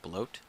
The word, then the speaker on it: Blót: Yeah, I looked it up and apparently you say his name Bloat. Like bloat. Or bloat. I feel bloated.